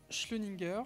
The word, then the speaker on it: Schleuniger: Schlöninger, je prononce bien votre nom?